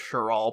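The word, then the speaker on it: Cheral: name is cheryl baskell cheryl by the way spelled c-h-e-r-a-l that's one way to spell it so cheryl cheryl david if you do me the favor of any time it says shirt like cheryl just read it sure all please i will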